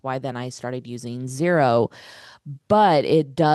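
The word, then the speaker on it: Xero: I use zero. It's it's spelled X er O.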